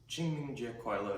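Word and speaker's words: 清明节快乐: Qingming Jie Kuai Le is how you say Happy Qingming Festival in Chinese.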